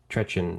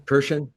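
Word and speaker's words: Kirchin: And then I was listening to Basil Trechen. Is that how you say it? Trechen? Kirshen.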